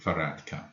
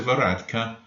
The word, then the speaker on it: Varadkar: How is it pronounced? Taoiseach. The Taoiseach at the moment is Leo Eric Varadkar.